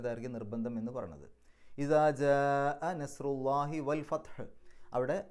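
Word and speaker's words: جاء: ജാ എന്ന് പറയുമ്പോൾ അവിടെ നീട്ടലും ഹംസയും അടുത്തടുത്താണെന്ന് മാത്രമല്ല, ഒരേ പദത്തിൻ്റെ ഉള്ളിലാണ്. ഒരേ പദത്തിൻ്റെ ഉള്ളിൽ മദ്ദും ഹംസയും, നീട്ടലും ഹംസയും അടുത്തടുത്ത് വന്നാൽ നിർബന്ധമായും 4-5 അക്ഷരങ്ങളുടെ ദൈർഘ്യം നീട്ടണം.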